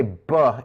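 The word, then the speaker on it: β: For the labials, that's a beta. So if you were to try this, say buh in front of your hand.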